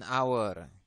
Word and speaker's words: hour: eraser a house an hour ya ini enggak ada masalah semuanya huruf-huruf ini memenuhi syarat kecuali Our ya karena our ini h-nya tidak dipakai berarti dia memiliki huruf hidup ya anour sedangkan di